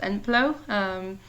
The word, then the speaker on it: ENPLO: The name is pronounced ENPLO. It's actually a very Greek word, which I like.